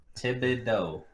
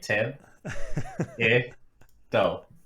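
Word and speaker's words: Thibodeaux: Thibodeau. Say it with me, Tib. Do.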